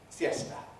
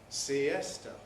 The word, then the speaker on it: siesta: and siesta from spanish in spanish they're pronounced as two syllables each fiesta siesta in english they're pronounced as three syllables fiesta fiesta siesta why because the e is a strong vowel it has the stress and we can't compress before a strong bowel the spanish city of